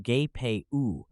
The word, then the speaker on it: GPU: names first the Czech then the GPU pronounced gay and now nkvd pronounced